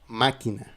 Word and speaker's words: máquina: Ça veut dire que tu vas faire le l'intonation dans la syllabe où se trouve le tilde. Par exemple, dans le mot máquina machine, la machine máquina.